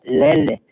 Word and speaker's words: lele: La pronunciación correcta sería lele, lele, y eso significa bebé.